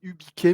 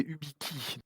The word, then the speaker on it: Ubiki: Oui, tout à fait, hein, pour, revenir, très rapidement, hein, sur l'historique du Wiki, on avait commencé par, J'ai dit Ubiquet, mais c'est Ubiki.